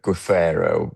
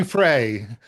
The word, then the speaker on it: Giuffre: That £12 million payment that was made to, I can never pronounce her name, but Guffero, yeah, Giuffre, yeah, Virginia Giuffre.